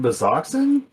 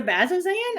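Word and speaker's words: Bazzoxan: In Bazoxen? What's Bazoxen? You mean the Bazozan?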